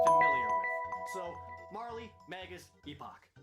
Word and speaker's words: Epoch: with so Marley Magus Epoch even though I know that last one is actually the British way of pronouncing it but whatever it sounds cooler than epic it's great that this